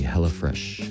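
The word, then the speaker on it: Hella Fraiche: the hell of fresh hellish fresh is spelled as the French the French spelling right yeah h e l l a from Northern California and uh fresh is spelled f r a i c h e hella fresh and you can find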